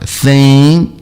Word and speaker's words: think: Lembrem que o NG, o G não é pronunciado. Think.